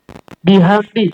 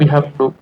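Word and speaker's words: بِحَمْدِ: Bihamdi. Oh iya Bapak Ibu, coba Ana ingin tanya. Bihamdi. Kenapa di sini dibacanya bihamdi? Kenapa nggak bihamdu? Ada apa di situ? Ada bi. Iya, jadi bihamdi gitu ya.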